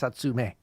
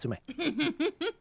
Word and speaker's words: Natsume: MA so sue me it's Natsume equal stress it's not to me I mean it depends